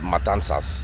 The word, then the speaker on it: Matanzas: A lot of my family in Cuba is from a town called Matanzas. That's how you properly say it.